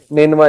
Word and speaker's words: نینوا: تو ادرس نے کہا کہ میں نینوا سے ہوں۔ نینوا اس کا تلفظ ہے NINEVEH۔ نینوا جو ہے یہ عراق